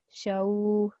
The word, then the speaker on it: شو: So how to pronounce it is shaw.